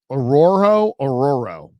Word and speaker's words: Orhorhoro: His name's Rook Ororo. And it's spelled Orhorhoro.